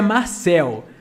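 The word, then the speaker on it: Mürsel: É a Ana, que é a americana, e a pronúncia é Marcel, mas escreve Murcel, né?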